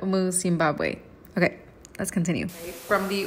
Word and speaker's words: Zimbabwe: saying it right but i said zambibue and that is completely not the case it's zimbabwe okay let's continue from